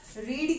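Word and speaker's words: read: रीड की third form होती है रेड, ठीक है, स्पेलिंग सेम होती है, सिर्फ बोलने का डिफरेंस होता है, रीड रेड रेड, same spelling same आती है।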